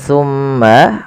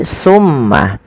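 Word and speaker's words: ثُمَّ: Ketika kita melafalkan tsumma, usahakan kita menahan suara mimnya. Tsumma dan harus hati-hati di dalam melafalkan tsa. Jangan sampai huruf ini terganti dengan huruf sin. Maka misalkan terdengar bunyi summah. Nah, ini maka dia berubah menggantikan antara tsa dan su sin ya. Maka dia akan berubah maknanya.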